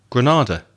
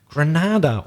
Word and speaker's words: Grenada: another ex British colony Grenada Grenada or some people also say Grenada I've heard both pronunciations I think that's probably